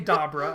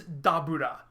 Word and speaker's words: Dabura: Dabura. The emphasis is on the wrong syllable. His name is Dabura, and then you elide that to get Dabra.